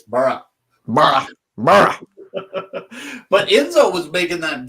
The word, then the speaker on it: Boro: it right now because it's not burrow I learned it's BR but Enzo was making